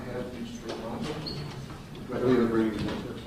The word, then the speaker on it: Matos: Matos?